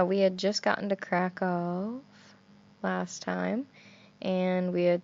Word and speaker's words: Kraków: that you pronounced it crack off crackle crackle like it's not a very big emphasis on the F well it's not like